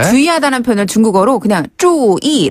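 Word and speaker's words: 注意: 주의하다는 표현을 중국어로 그냥 注意 라고 하면 돼요. 注意. 발음 똑같죠?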